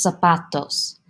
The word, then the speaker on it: zapatos: in Spanish, for accents, if a word ends with a vowel, the letter N, or the letter S, the accent naturally goes on that second to last syllable. So in this case, that pa, zapatos.